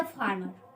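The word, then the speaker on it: farmer: हैं ही इज अ फार्मर, ही इज अ फार्मर, फार्मर लिखिए। अब यहाँ पर ही इज अ फार्मर में देखिए यहाँ पर आर साइलेंट कर दिया जाता है। इसको बोलते हैं फार्मर।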